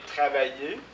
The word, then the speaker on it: travailler: pas le R et travailler on ne prononce pas le r hein donc ça c'est